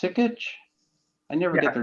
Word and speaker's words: Sikich: Is it pronounced Sikich?